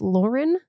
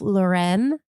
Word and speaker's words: Lauren: Uh, it is Ralph Lauren. Not Ralph Lauren. You didn't know that. That man is from the Bronx. Why are we pronouncing his name Ralph Lauren? It doesn't need to be French to be good.